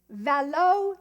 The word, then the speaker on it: Velo: value that yeol and finally Karen goes Velo like Chateau but many got it